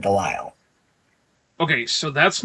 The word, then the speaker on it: DeLisle: And it's probably That's spelled not- Delizzle, but she says it Delisle.